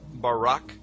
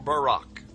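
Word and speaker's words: ברק: a flash of light in Hebrew is pronounced Barak or Barack now consider this amazing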